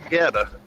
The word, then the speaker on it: Goetta: And no, it's called Geta. I mean, it's a Cincinnati thing, but I was born in Cleveland, lived up there till I was like 10 or 11. I think it's spelled Goetta.